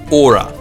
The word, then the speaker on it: ora: then the next one is o r a aura and what that is is basically a greeting